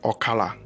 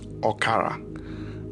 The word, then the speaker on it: Okala: Okala or obala and Okala can also be pronounced as okara as in o k a l a or o k a r a the cosmic House of